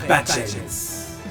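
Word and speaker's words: Badjens: Badgens prononcé Bad-gens, qui signifie mot à mot mauvais genre. Badgens comme 2 syllabes que la bouche aspire d'un coup.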